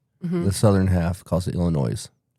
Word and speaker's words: Illinois: you know people from Illinois, the northern half of the state calls it Illinois. The southern half calls it Illinois. Really? They actually pronounce that pronounce the S.